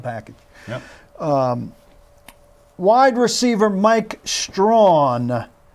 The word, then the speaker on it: Strachan: Wide receiver Mike Strawn, though it looks like it should be pronounced Strachan.